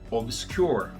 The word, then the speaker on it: obscure: Obscure, obscuro, fica more obscure. Mesma coisa. Obscure, 2 sílabas.